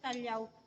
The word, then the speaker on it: Callao: But don't be confused kasi we have three pronunciation. We have Kalaw, yung ibon, Kalaw, yung correct, and Kalyaw. Spanish word which means calm or peaceful place.